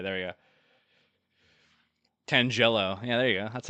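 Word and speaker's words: Tangela: Tangello. Yeah, there you go. That's a That's the correct pronunciation.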